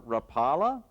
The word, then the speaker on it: Rapala: This might be the most popular lure in America, but most anglers can't pronounce it. It's Rapa, as in Lori Rapula, the Finnish man who handcarved this lure, the original one.